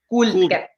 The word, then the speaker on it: Kuldkepp: Kuldkepp.